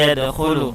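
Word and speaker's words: يَدْخُلُونَ: Wa ra'aitan nasa yadkhulu, ya. Yadkhulu, ya, kha itu ada di tenggorokan kita.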